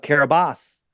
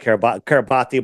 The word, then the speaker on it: Kiribati: Why did they change the name of the island of Kiribati? Right? Formerly, I used to call it Kiribati, but it's pronounced Kiribati.